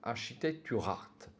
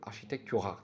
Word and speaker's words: Architecturart: Retrouvez ainsi les nombreuses publications disponibles sur le site de Architecturart. Alors je crois que j'ai prononcé au début de la vidéo de Architectura, mais c'est de Architecturart.